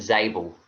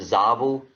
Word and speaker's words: Zabel: would just uh correct you that I I pronounce it zel I know there's different pronunciations um some people pronounce it zabel uh I'm angelized it we just pronounce it